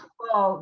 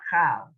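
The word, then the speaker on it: כֹּל: Okay, I'm going to again tell you, whenever you say the word chol or chol, uvachol, and in all, it's chol, not chal.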